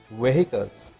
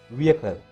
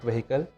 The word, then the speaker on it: vehicle: Everybody will say that it is vehicles. There is no such pronunciation in English. The H sound is silent in that word, so we can pronounce that word as vehicle, not vehicle, vehicle.